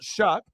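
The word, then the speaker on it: Shough: you know s-h-o-u-g-h but obviously it's pronounced shuck right and then now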